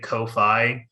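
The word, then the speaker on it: Ko-fi: and buy me a coffee I'm I'm cool with that too how does is how you pronounce it uh I think it's pronounced coffee but I always say Kofi so that people like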